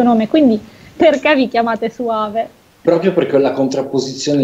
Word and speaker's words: Suave: Suave, perché è all'inglese. Tu lo pronunci alla spagnola, ma va bene, lo stesso, tanto esatto.